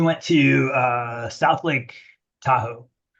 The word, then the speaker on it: Tahoe: to uh South Lake Tahoe which I always except for right now mispronounce as South Lake taco no matter how hard I try Tahoe always comes out as Taco um and my present